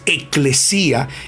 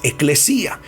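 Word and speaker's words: ἐκκλησία: viene de una palabra griega que significa, se pronuncia eclesía, y significa, oiga bien esto, llamar fuera de? Oiga, la palabra iglesia viene de una palabra griega que es eclesía, y eclesía significa llamar fuera.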